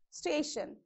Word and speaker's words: station: Iron, for example, station. Okay, it is station. So from, you have to first check how many syllables you have. So here you have only 2 syllables. And what is the rule is telling? From the last, you have to, I mean from the end, you have to place the stress mark on the second syllable.